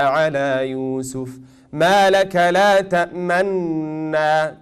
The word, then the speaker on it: تأمنا: You will just pronounce one noon, but you will do dhamm with your lips.